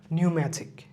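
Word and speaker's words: pneumatic: মুখস্ত করে ফেলব যেমন নিউম্যাথিক নিউম্যাথিক নিউম্যাথিকের ক্ষেত্রে পিটা সাইলেন্ট থাকে নিউম্যাথিক নিউমোনিয়া নিউমোনিয়া নিউমোনিয়া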